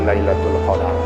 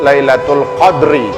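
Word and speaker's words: ليلة القدر: surah al-qadar kan gitu dadanya difathah boleh dengan di Sukun dan surah al-qadr Laila nih lainnya juga disebut Lailatul Qadri atau lailatul qadar lailatul qadar atau Lailatul Qadr lailatul qadar atau Lailatul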